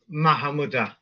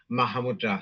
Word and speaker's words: Mahamudra: style what call Yes again m style is mahamud you see but it's like if you're saying it's slow for people to hear then um you know you will say mahamudra so common pronunciation because when I met many Tibetans and they were just saying mahamud I thought what the